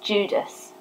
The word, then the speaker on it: Judas: The name Judah is pronounced Judas in Greek.